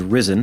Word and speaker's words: RZEN: So if anyone wants to follow me on Twitter, my handle is Risen, but it's spelled RZEN, because I crafted that as a 7th grader and thought, this sounds awesome.